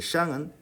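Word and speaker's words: 上: 샹 할 때 이 시어 소리는 좀 혀를 안쪽으로 이렇게 감고 내는 시어시거든요. 샹 SH입니다.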